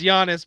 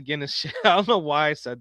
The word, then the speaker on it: Giannis: Um, will Giannis Hey, I said it right this time. Guns. It's Giannis, bro. Don't Don't He did me dirty on the Guinness I don't know why I said that.